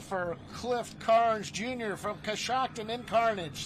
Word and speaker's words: Coshocton: Coshocton, yeah.